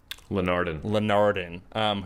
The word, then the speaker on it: Linardon: It's Linardon.